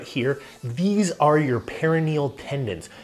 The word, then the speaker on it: peroneal: And the hardest part of this disease is pronouncing the name because it's tough. It's peroneal.